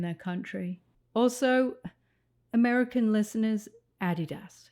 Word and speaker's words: Adidas: Also, American listeners, Adidas. It's not Adidas, it's Adidas, okay? It's German, that's how they pronounce it, Adidas.